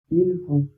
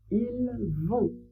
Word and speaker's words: ils vont: Ils vont, elles vont, ils vont, elles vont. Ici, on ne prononce pas les S, il a pas de liaisons à faire.